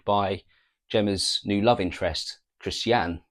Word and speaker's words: Christiane: This has all come about, or this is all brought forward by Gemma's new love interest, Christiane, or Christian, but Christiane as it's pronounced apparently in the film.